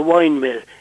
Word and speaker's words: Windmill: And in the city itself, being really a seafaring city, you still have an area in Limerick called, pronounced as the Wine Mill.